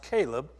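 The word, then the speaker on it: Chileab: And his second, it's actually pronounced Caleb, by Abigail, the widow of Nabal the Carmelite.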